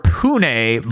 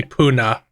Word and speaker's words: Pune: I would either assume it's Pune or Pune, but I'm gonna look it up. It's in India. It seems to be Pune.